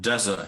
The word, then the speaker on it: desert: following stress pattern sorry what is the difference between dessert and desert here the stressing is some and the different syllable the stress is on